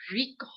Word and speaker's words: Rico: You got to roll your R. Rico.